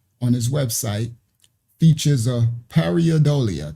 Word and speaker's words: pareidolia: his website, features a pareidolia. That's what it's called. Pareidolia. I think that's how they say it.